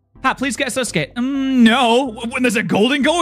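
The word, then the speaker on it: 円: you know it's funny even in Japanese it's not called Yen it's called n they have a y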